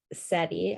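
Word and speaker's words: cedi: is the ghanian currency and the word um seti i looked it up and that's how you pronounce it was derived from the account word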